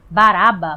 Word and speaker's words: Barrabás: Bar-Abás, na verdade, é o nome dele. Bar significa filho e Aba, pai. Então Barrabás, que na verdade a pronúncia seria Baraba, Bar-Aba, né? Que para nós é Barrabás, na verdade é filho do pai.